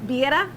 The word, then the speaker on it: Birria: Birria.